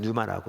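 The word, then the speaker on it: πνεῦμα: 소위 말해서 물론 앞에 그 패가 묵음이라서 뉴마라고 이렇게 하는데 그런데 그 단어 자체는 중성입니다.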